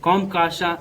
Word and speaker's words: COMCASA: So these are pronounced as the CAATSA and COMCASA and LEMOA.